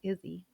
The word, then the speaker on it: Izzy: And it's also a play, it's pronounced Izzy, like play on the name Israel for strength and resilience, right?